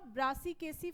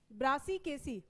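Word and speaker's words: Brassicaceae: multiple of four टेट्रामेरिस multiple of four और इसके example में आएगा ब्रासीकेसी फैमिली हम ब्रासीकेसी प्रोनाउंस कर पा रहे हो कि नहीं पहले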